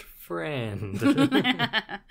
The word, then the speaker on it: Friend: was but yeah I it's spelled friend like f r i n d so I'm assuming it's friend that sounds like an